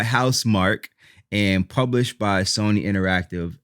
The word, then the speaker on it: Housemarque: by house mark and i'm mad about how they pronounce their name because it looks like it should be announced pronounced house marquee and that's how i was saying it but it was developed by house mark and published by sony